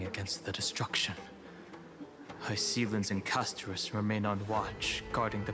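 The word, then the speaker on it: Castorice: In the game, they say Castorize. No, they say pronounce it Castorus. Yeah, Castorus. Yeah, I guess it's the correct pronunciation.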